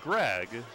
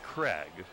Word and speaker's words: Craig: Not Greg, but Craig.